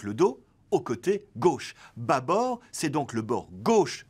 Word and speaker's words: bâbord: observons tout d'abord que le circonflexe sur l'a2 bâbord est aberrant on prononce en effet bâbord et non pas bas à bord le terme vient du